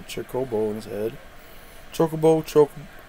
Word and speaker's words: Chocobo: bowl in his head chocobo chocobo not chockable definitely not chockable i say chocobo i